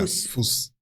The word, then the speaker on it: Fuß: So that bee-looking thing, I know I said it wrong. Okay. But it's it's a double S. Yeah. Fuss.